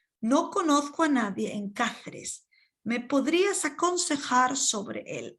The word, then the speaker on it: Cáceres: En Cáceres, make sure you pronounce stronger with the A, Cáceres.